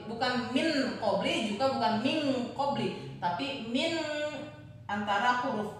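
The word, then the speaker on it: مِنْ قَبْلِ: Dibaca samar antara bunyi en dengan bunyi eng. Contoh, min qabl. Min qabli, bukan dibaca min, tapi dibaca sama seperti huruf eng.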